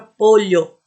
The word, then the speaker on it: pollo: Por exemplo, o LL, o doble L. Esse, na Espanha, por exemplo, olha, eu vou falar a palavra pollo, que é frango em espanhol. Pollo.